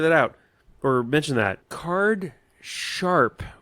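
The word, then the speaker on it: cardsharp: Card Sharp with a P as in Paul at the end, not Card Shark with a K.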